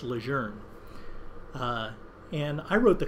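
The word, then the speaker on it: Lejeune: I keep saying Leger because that's the way the family wants it pronounced. We used to say Ljun, right? It's Leger.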